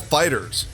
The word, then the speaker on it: FighterZ: video game adaptation Dragonball Fighters I know it looks like fighter Z but apparently it's pronounced fighters and we're going to